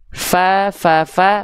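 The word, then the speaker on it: ف: Begitu ujung gigi seri atas kita nempel ke perut bibir bawah bagian dalam yang basahnya.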